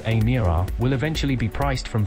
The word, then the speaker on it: Emira: The Emira, pronounced Emira, will eventually be priced